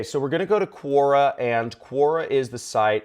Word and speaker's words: Quora: as well okay so we're gonna go to Korra and Quora is the site it's spelled qu o ra right there so Cora dot-com and you can just go to it